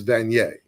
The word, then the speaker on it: Vanier: in your uh uh School how do you pronounce the school it's vaniere College yeah okay all right um Stephen Cohen